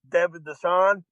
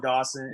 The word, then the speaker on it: Dassaw: Dassaw. Sorry about that. You can no, it's all good. It's close. It's better than Dawson. It's better than Thesaurus.